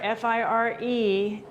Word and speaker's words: fire: So fire, F-I-R-E, ends, it's one syllable, ends in E, makes that I long, fire.